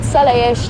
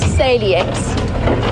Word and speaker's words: Saliex: And I know that Salayesh does have, that's sort of how we pronounce it with the X. It's spelled sort of Saliex, if you want to read it literally.